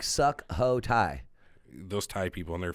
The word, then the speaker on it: Sukhothai: Sukhothai. Sukhothai. It's spelled Sukhothai. Oh, so it sounds like suck ho Thai.